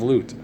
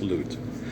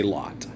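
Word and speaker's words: Lut: Like the story of Loot, you know, that's how they say it in Arabia. It's Loot. Um in English, we say Lot.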